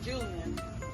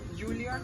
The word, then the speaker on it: Juilliard: And one of the most prestigious, if not the most, universities in the world, which is Julian. Is that how you say it? Juilliard.